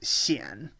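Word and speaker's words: 鲜: video for cn that this can also be pronounced shien uh when it is in uh certain um certain uh words and the most common is chaoshen which is the chinese word for north korea so uh when you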